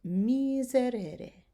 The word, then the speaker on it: miserere: And miserere. So again, give it that Z sound.